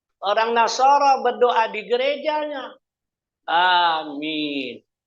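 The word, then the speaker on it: آمين: nasara berdoa di gerejanya Amin panjang Makanya kita membacanya harus panjang giril magdubi alaihimad yakni bahasa Ibrani ya bahasa tiga agama alifnya panjang minimnya panjang jangan diganti dengan kabul kalau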